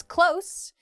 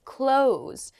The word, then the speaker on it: close: a bath next is close meaning to be near uh and the other pronunciation is close meaning to shut or it can also mean to end um so in a